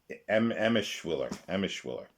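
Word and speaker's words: Emshwiller: Now we go to Robert Silverberg and Ed Eschmiller. Pronunciation Emischwiller.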